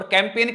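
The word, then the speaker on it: campaign: और मैंने आपको बता रखा जी के बाद कभी भी एन है ना, तो जी क्या हो जाता है? साइलेंट हो जाता है।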